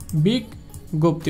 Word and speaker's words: বিজ্ঞপ্তি: যেমন দেখেন বিজ্ঞপ্তি, এটা মাঝখানে রয়েছে এই জন্য এর উচ্চারণটা হবে বিগ, তারপরে হবে গপ্তি, বিগ গপ্তি, অর্থাৎ এর উচ্চারণটা দেখেন গ গজা ফালা, গ গজা ফালা।